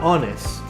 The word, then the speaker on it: honest: jota usamos a helicóptero por otro lado tenemos ones que no suena como jota sino como una o andrés en ese caso entonces